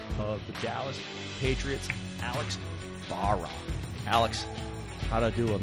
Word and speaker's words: Barras: We're going to hang out with the GM of the Dallas Patriots, Alex Barras.